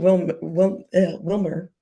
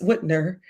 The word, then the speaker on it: Whitmer: the governor to um Gretchen Wilmer I don't know why I can't say her name it's Whitner um who was also